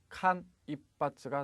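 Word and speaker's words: 間一髪: 간일발은 어떻게 발음합니까? 칸 입바츠가 되겠습니다.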